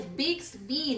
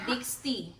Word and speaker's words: Bixby: It's Bixby, not Bixty.